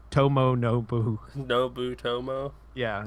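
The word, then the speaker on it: 伴信: Yeah, it's Tomo Nobu.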